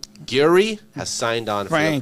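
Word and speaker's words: Gehry: frank how do you say his last name gary has signed on from the project gary are you kidding me can you pronounce his last name what's wrong he's a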